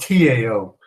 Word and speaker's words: Tao: And it's spelled T-A-O, not D-O-W, like the Dow Jones.